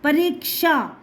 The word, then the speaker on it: परीक्षा: परीक्षा, परीक्षा, आधा का आया है, परीक्षा, तब हमारा ये बनेगा।